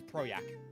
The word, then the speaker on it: Projekt: cd projekt red's getting is that how you pronounce it by the way yeah it's project okay so it's not rogers okay that is